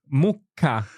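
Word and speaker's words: mucca: a cow there oh Muka Mah M with that it almost sounds as if this the sound stops for a second yeah M yeah so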